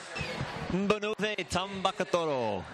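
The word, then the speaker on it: Banuve Tabakaucoro: Tabakuro, I'll let Matt Lynch pronounce the winner. Benube Tambakatoro.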